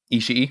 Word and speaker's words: Ishii: on the pre-show Eddie Kingston is facing tomohiro ishii ishi how do you say that easy yeah did I get it right I think